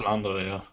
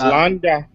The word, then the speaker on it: Landa: I think it's how it's pronounced. Yeah, it's Landa. Yeah. Yes, Landa.